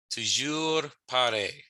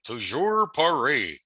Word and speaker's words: toujours pareil: Toujours pareil. The R's are rolled, but if you can't roll your R's, that's okay. It's perfectly fine to say toujours pareil.